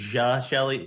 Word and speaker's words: Geshelli: yeah and so so it's a soft g everybody always says the hard g like it's actually ja shelly like just shelley but so many people